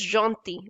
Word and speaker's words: gentil: We don't speak ls here, okay? This is only called gentil. L is silent in this word, in this letter, in this word. There is no rule which states that L at the end will be straight, but in this word, in this particular word, we don't pronounce L.